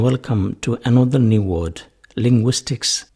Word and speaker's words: Linguistics: have great interest in the subject of linguistics Linguistics is a complicated subject what is to be